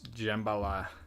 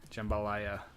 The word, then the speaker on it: jambalaya: My man doesn't know how to pronounce Jambala. Jambalaya.